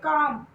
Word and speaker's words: calm: And calm, CAM, calm. Should, SHOULD, should. And would, WOULD, would. There is no L sound in these words.